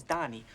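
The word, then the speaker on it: Dahny: You see, their name is Donnie, only it's not spelled like Donnie as in Donnie and Marie. It's spelled D-A-H-N-Y.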